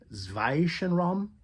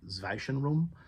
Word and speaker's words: Zwischenraum: The album is called Zwischenraum. I believe that's how you pronounce it, Zwischenraum.